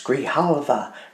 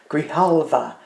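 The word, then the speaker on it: Grijalva: Grihalva. Grihalva. Grihalva.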